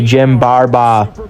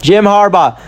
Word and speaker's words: Jim Harbaugh: Roger Goodell handed off to Jim Barba. That's not how you say his name. Jim Harbaugh.